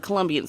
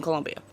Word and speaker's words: Colombia: right about one thing there is no you in Colombia there is a it is spelled c-o-l-o and the only thing